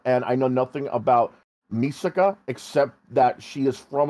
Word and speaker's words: Misaka: I'm mispronouncing that, but I don't give a shit anymore. No, you're right. It's Misaka.